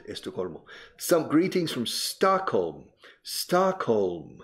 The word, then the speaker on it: Stockholm: Stockholm. Fijaos en la pronunciación. Stockholm. Y la L suena. Stockholm.